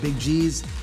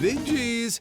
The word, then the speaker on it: Big G's: Also, Big G's rhymes with cheese.